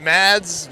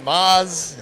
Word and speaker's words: Mads: Is it Mads? Maz? It's potato. Potato. Whatever you want. In Danish, the D is silent, but there's no obligation over here to follow that.